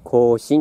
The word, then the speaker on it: 庚申: 先行神を目指しましたけど、これもね、庚申って読むんですよ。